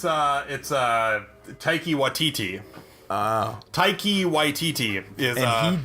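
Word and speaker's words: Taika Waititi: I'm not even gonna try to pronounce that name. Oh, it's Taiki Waititi.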